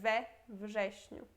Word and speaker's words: we wrześniu: Então, v virá V. Aí já fica muito tranquilo de pronunciar we wrześniu, né?